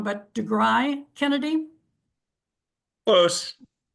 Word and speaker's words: deGriu: and I hope I don't say this middle part wrong, but deGriu Kennedy? Close. How do you tell me how you say it? deGriu.